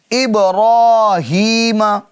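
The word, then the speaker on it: إبراهيم: کھڑا زبر۔ تو اب را کو کیا کریں گے؟ پر یعنی موٹا پڑھیں گے۔ ابراہیم، اس کی ہجے کرتے ہم، حمزہ با زیر اب، با میں قلقلہ ہوگا، را کھڑا زبر را، ابرا، ہا یا زیر ہی، ابراہی، میم زبر ما، ابراہیم، ٹھیک ہے۔ تو یہ را پر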